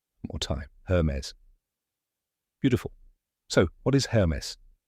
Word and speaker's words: Hermès: Correct pronunciation is her mez. Let's break it down step by step. First, her rhymes with fur. Then mez, which rhymes with fez. Now say it with me. Hermes. One more time. Hermes.